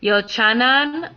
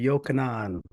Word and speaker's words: Yochanan: Is Yochanan. Did I pronounce that correctly, sir? Greetings. It's actually Yochanan. Yochanan, excuse me.